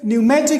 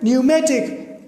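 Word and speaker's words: pneumatic: When this P comes before NS, then it is silent.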